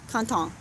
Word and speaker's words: content: in french is content canton is how they pronounce it right and at first